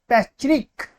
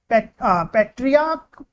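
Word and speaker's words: patriarch: पैट्रिक पैट्रिक sorry पेट्रियाक।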